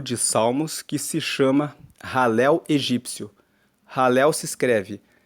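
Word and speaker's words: Hallel: encontramos um grupo de Salmos que se chama ralel egípcio ralel se escreve h a l l e l e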